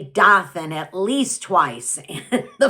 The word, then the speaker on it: Dothan: times we told John, it's pronounced Dothan. Dothan, that was the town. Dothan, that's where we live. Not Dothan.